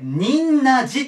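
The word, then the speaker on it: 仁和寺: なんですけどこれ忍んなじと言います忍んな応書い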